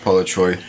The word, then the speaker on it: Palocsay: Palocsay is the name, actually pronounced Palocsay, which is Hungarian descent from parents.